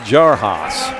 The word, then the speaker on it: Jaros: here's a shot from jarus in the corner yes he Nails a three-pointer that time and they're pronouncing it jaras so I stand corrected jar jaros Alec